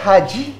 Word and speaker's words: Hajj: Is that haji?